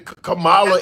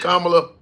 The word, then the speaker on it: Kamala: you think that's intentional they're saying Cala instead of Kamala it's intentional it's intentional